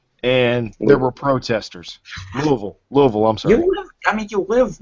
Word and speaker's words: Louisville: there he always told me no no it's Louisville it's Louisville I'm like okay whatever well I